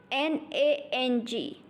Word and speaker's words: nang: The next finion is N-A-N-G. Has a pronunciation of nang.